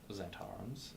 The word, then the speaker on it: Zhentarim: And the Zentrums, Zentarums, and then there's also How do you spell that?